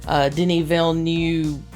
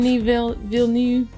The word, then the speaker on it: Denis Villeneuve: It makes me want to watch more Denis Villeneuve movies. Did I say it right? Yeah, close enough. Denis Villeneuve.